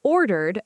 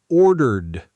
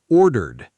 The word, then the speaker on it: ordered: is really two sounds, ordered. Ordered, not order ed. Right. The ending ed after a soft sound just adds a quick d sound, ordered, not order ed.